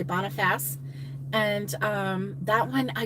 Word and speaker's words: Boniface: is really really good it looks like it's pronounced bonna face but they say Boniface and um that one